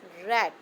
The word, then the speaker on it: read: When we will pronounce read as a second or third form, we will pronounce it as read.